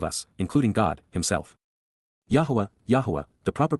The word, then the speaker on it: Yahweh: to all of us including God himself Yahweh Yahweh the proper pronunciation of the name of eloah God as